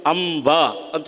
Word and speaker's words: ಅಂಬ: ಗುರುಗಳಾದವರು ಪ್ರೇರಣೆ ಕೊಡಬೇಕು ಆದ್ದರಿಂದಲೇ ಅಂಬಿಕ ಅಂಬ ಆ ಶಬ್ದ ನೋಡಿ ಎರಡು ತುಟಿಗಳನ್ನ ಒತ್ತದೆ ಇದ್ದರೆ ಬಾಯಲ್ಲಿ ಆರ್ದ್ರತೆಯನ್ನ ಇಟ್ಟುಕೊಂಡು ಒಂದು ಆಪ್ತ ಭಾವನೆಯಿಂದ ನಾವು ಅಂಬ ಅಂತ ಉಚ್ಚಾರ ಮಾಡುತ್ತೇವೆ ಆ ಮಮಕಾರಕ್ಕೆ ಕೇವಲ ಮಮಕಾರ